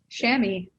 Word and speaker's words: chamois: to pronounce it right is it chamois sham shammy yeah like share me and um some of